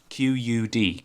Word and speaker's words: Qud: Like, play Caves of Cud. It's QUD, Caves of QUD. That's how it's spelled.